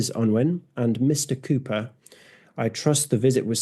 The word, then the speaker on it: Cowper: only heard it said, he was writing it out in the way that he' heard it said, which is with a double O. Um, and so his name is Cooper.